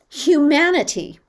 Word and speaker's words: humanity: So in the word human, the second syllable was unaccented. How about in the word humanity? Is the second syllable still unaccented? No. It's shifted, hasn't it? Mm-hmm. Which of the syllables, the third or fourth syllable is unaccented and the vowel sounds like a schwa?